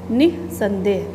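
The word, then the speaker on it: निःसंदेह: निः संदेह, तो निः, निः संदेह है तो निः संदेह नहीं पड़े, निः ह है का उच्चारण होना चाहिए, निः संदेह।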